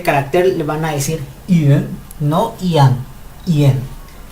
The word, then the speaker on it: ian: Esta se escribe IAN, pero fonéticamente no se dice como lo vemos, se dice IN. Parece como si realmente estuviéramos diciendo una E.